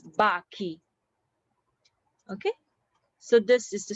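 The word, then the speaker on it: bacchi: um okay for example this one bachi when there's an akka in between so this pronounces baki okay so this is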